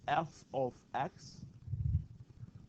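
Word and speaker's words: f(x): function notation so we use this notation that's pronounced as F of X this is how you call this not a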